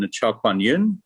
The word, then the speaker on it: Chowkwanyun: Everyone thinks it's a lot more complicated than it is, but it's just three syllables and you say them fast and phonetically.